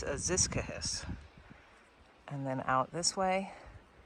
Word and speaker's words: Aziscohos: It's Aziscohos.